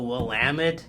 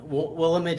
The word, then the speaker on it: Willamette: like willamette sometimes yeah if you're not from the area they'll say it like we'll limit or and if you're from chicago they'll probably say well matt i've heard that you